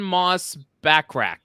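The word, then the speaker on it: Moss-Bachrach: I want Pedro in uh I'm with youon moss backrack is how you say his name that's that's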